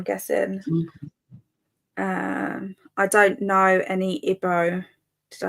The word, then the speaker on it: Igbo: How do you say this one again? Igbo. Igbo. So ignore the G.